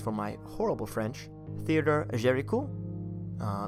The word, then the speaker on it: Géricault: I'm particularly thinking of a French painter, and apologies for my horrible French, Theodore Géricault. It's spelled Theodore. And then Géricault, it looks like Géricault.